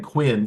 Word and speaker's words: Quinn: guess that's right it's the Dan Quinn which which is also has a k sound even though it's spelled with a Q it's still a right a um beginning so was that